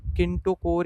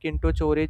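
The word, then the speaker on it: kinetochore: तो ये आपका आंसर होगा ए ऑप्शन, किंटोकोर या फिर किंटोचोरे, जो मतलब जैसे भी आप प्रोनाउंस करो। ठीक है, तो ये बेसिकली आपका यहाँ पे काइनेटोक्योर ये बोल सकते हो, मतलब अलग अलग प्रोनाउंसिएशन।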